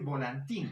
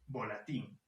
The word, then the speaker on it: volatín: ser apuñalar muy bien no se debería decir volantín a muchas personas decían volantín la realidad se debe decir volatín así con diferentes por